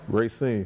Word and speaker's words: Racine: That's how you pronounce it? Racine.